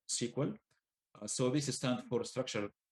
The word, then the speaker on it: SQL: So SQL, we pronounce it SQL.